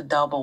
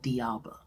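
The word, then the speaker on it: d'Alba: But yeah, y'all, I pronounced the name instead of saying Dalba, I said Dialba.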